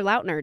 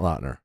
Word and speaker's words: Lautner: podcast with the little outners e says Taylor Lautner did you all know that because I learned that this morning while I watched it what that he pronounces it Lautner Lautner not Lautner not lotner so well mind blown here yeah anyways we